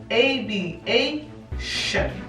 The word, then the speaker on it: aviation: Y ahora, cuando una palabra en inglés termina en tion, en inglés esa pronunciación siempre va a ser shen, así como les he mostrado aquí abajo la pronunciación en español, shen. Cuando tenemos esa combinación de T, I, O, N, ya no va a ser tion, sino shen. Entonces teníamos aviation, aviation. Sí, miremos el segundo ejemplo.